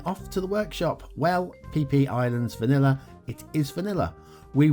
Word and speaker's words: Phi Phi Islands: It's Thai, by the way. It's Phi Phi Islands, I'm not joking, Vanilla by speedtraxxdj.